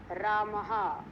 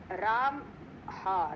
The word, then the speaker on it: रामः: तो शब्द देखो, पुल्लिंग शब्द रामः, राम हा, रामः, रा आ मा और विसर्ग। तो विसर्ग जो है, पहले भी मैंने बताया था, उसका उच्चारण जो है वो हा के उसमें आता है।